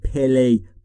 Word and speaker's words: play: نگفتم play. Play بین P و L صدایی وجود نداره. In در the yard در اون حیات مشخص که گوینده و شنونده دارن در موردش صحبت میکنن.